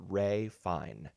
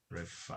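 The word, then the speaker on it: Ralph Fiennes: I don't know why you pronounce it this way, but his name is pronounced Ray Fine. Oh, yeah. Ray Fine.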